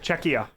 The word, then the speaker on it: Czechia: right no no what you keep adding an N there's no n it's just czechia ah there so you